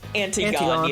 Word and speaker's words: Antigone: Antigone, yeah. I'm like, what is this word? I'm like, "Ah, Antigone." It's Greek, so it's not pronounced how you think it should be.